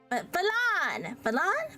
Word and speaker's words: Valon: you had it right, and then you tripped over the threshold. It's emphasis on a different syllable. Oh, okay, but like, Valon.